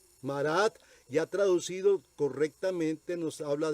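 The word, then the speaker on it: מרד: Ahora, su nombre en hebreo se pronuncia Marat. Marat, ya traducido correctamente, nos habla de nos rebelamos.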